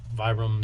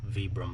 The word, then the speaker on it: Vibram: I'm sorry, I still got to get the hang of pronouncing Vibram instead of Vibram. Proper terminology, it's pronounced Vibram, but habit ever since I was a kid pronouncing it Vibram because everyone said that around me. At least here in the US, that's how we pronounce it, is Vibram. Properly everywhere else in the world, it's Vibram.